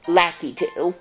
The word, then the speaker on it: Lakitu: I think it's pronounced... Lakitu? Yeah, it's Lakitu.